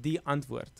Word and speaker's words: Die Antwoord: Well, But there you it's pronounced die antwoord.